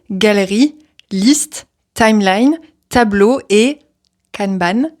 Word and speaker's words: Kanban: Je sais pas vraiment comment le prononcer en français. Je pense que canan c'est pas la bonne prononciation mais canban, ça me paraît un peu bizarre aussi. Bref, on va dire canban.